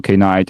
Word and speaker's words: Knight: the first of all his his IDE is pronounced as kight is not night yeah okay uh so my question is uh for K night and uh my question is you know it's